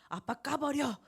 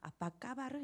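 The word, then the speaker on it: apa kabar: 오늘 각 교회에서 배웠어 아빠 까 버려 이러면 곤란합니다 아빠 까 발을 입니다 4 먼저 인도네시아 라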